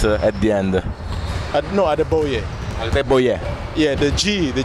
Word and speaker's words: Adegboye: It's Agdeboye. The G in my last name is silent. So it's without accent at the end. No, Agdeboye. Agdeboye.